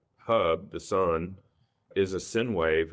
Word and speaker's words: sine wave: the sun is a sinwave. It's a firstg sinwave. Sinwave. Sinewave. How do you say that? I I say sine wave.